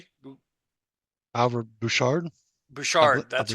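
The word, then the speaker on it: Bouchard: you say his last name bu Albert bushard bushard that's right Bard you're welcome yeah thank you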